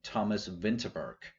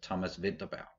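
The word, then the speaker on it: Thomas Vinterberg: i know that like english speakers will pronounce his name thomas winterberg but that's probably why it happened but like you pronounce it in danish it's thomas vidabao yeah i do i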